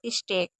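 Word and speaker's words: steak: अब इ ए को ए कुछ ऐसी वर्ड मीनिंग भी है जिसमें हम ए नॉर्मली सब जगह पढ़ेंगे ही पढ़ेंगे। जैसे ब्रेक, ये और स्टेक। ये तीन ऐसी वर्ड मीनिंग है जिसमें आपको ए पढ़ना है।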